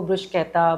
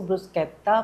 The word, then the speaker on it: bruschetta: वैसे तो यहां पे इसको ब्रशकता ब्रश कैटा भी प्रोनाउंस किया जाता है। लेकिन एक्चुअली में इटली में इसको ब्रुसकता प्रोनाउंस किया जाता है।